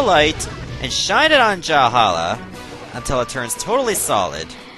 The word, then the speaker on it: Jalhalla: has a different name jalhala basically rhymes with the term for a vikings version of heaven known as valhalla what you have to